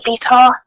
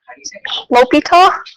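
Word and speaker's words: L'Hôpital: fun word huh Lita Lita the H is silent it's the last name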